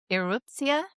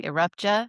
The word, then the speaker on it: Erupcja: and the new film, which I've just learned how to pronounce with a Polish accent, Eruptia, which we were mispronouncing Eruptja, in case that's what